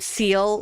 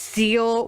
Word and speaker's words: zeal: If it sounds like I'm saying the word word seal like animal, I am not. It is zeal with a Z. Like zealous.